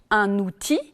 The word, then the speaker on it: outil: n'est pas toujours prononcée comparer par exemple un outil le elle n'est pas prononcé et un fils le elle est prononcée attention aussi aux mots